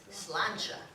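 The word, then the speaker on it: sláinte: um it's spelled s-l-a-i-n-t-e and it's pronounced slancha somebody once said just think it's a lawn chair so anyway I want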